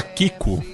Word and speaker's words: Kiko: A princesa Kiko. Eu fico com medo de pronunciar. Não, é isso mesmo, é Princesa Kiko. Não é piada.